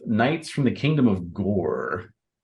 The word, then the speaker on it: Gorre: And so the default encounter that I am setting is with knights from the kingdom of Gore. That sounds very intimidating, but it's spelled Gorre.